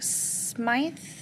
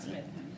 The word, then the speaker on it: Smythe: Moving on to Smythe. Did I say it right? Okay. That's correct. Not Smith.